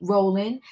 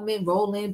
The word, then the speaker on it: Rowland: This tea time is dedicated to Kelly Rowland. I always want to say her name wrong somehow. I want to say Rowland, but it's Rowland, okay?